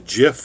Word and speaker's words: GIF: you learn how to make a Jif or a gift depending on how you pronounce it as well I